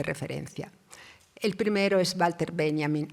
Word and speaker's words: Benjamin: El primero es Walter Benjamin, en Italia lo pronunciamos a la alemana, en España no, según el cual, cito, el despertar es el caso ejemplar de recordar.